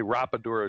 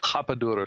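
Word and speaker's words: rapadura: And he's he's using a sugar called rapid we would say rap dura sugar, but they don't pronounce their R's in Brazil like ours. They're like H's, so it's hapa dura sugar.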